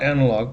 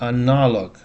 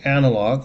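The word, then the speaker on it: аналог: Not analog, but analog. Analog. In English is the first syllable stress. An In English is analog. In Russian is analog.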